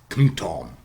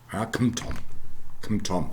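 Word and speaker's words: *ḱm̥tóm: right in the middle, something like kmtom, kmtom, or probably second syllable says km, syllabic kmtom, okay, in Proto-Indo-European, okay, and this has been done for various words and sounds and so on.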